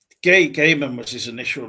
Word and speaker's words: Gaiman: No, you called him Gay Ga. So, no. Neil Gaiman. Neil Gay man.